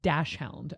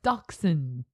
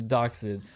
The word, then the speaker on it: dachshund: It's not pronounced dash hound, okay? So if you're the person who keeps saying dash hound, I'm sorry. Stop. It is dachshund. Okay. It is dachshund or wiener dog.